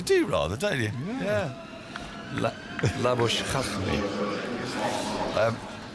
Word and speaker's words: Labuschagne: Labuschagne is how you're pronouncing it. Well, I suspect he's now Marnus Labuschagne. Labuschagne. I've heard Labuschagne quite a bit in Australia. Yeah, that's what they call it. Yes, they do like Shane. It's a syllable that's very popular in Australia.